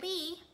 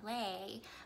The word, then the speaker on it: Le: to know me linda lee technically it's linda lay the vietnamese pronunciation but ali orlay works